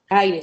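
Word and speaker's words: Ayre: Eh, aire se escribe a Y de yoyo r e, no aire como el que respiramos, sino aire.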